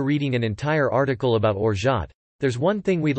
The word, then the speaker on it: orgeat: To set the record straight, the word is pronounced as orgeat, with two equally stressed syllables.